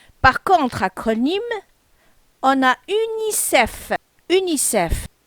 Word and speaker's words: UNICEF: Par contre, acronyme, on a UNICEF. UNICEF. L'ensemble des lettres forment un mot prononcé. Donc, toutes les lettres qu'on a, U-N-I-C-E-F, on a prononcé avec le mot UNICEF en entier.